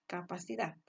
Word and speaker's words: capacidad: Pero también podemos observar que, por ejemplo, en la palabra capacidad, que se separa en 4 sílabas, la última sílaba está la mayor intensidad de voz, capacidad, ¿verdad?